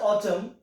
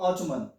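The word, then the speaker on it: autumn: 43 है that ऑटम, यहाँ पे एन साइलेंट है क्योंकि एम के बाद जब कभी एन आता है तो वो एन क्या होता है, साइलेंट होता है। दैट मींस इसे आप ऑटम बोलेंगे, ना कि ऑटमन।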